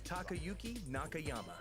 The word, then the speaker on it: Takayuki Nakayama: Okay, okay with the pronunciation, Lil Wayne. My name is Takayuki Nakayama, director of Street Fighter 6.